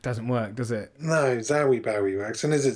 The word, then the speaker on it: Zowie: I was going to ask you how to pronounce it because I don't know, but it's Zowie. I guess so. Zowie Bowie. I guess so. Not Zoe Bowie.